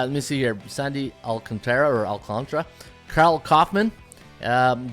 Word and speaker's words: Alcantara: alcantra it's you know it looks like Alcantara but you listen to a broadcast they say oh Sandy alcantra all right I'll have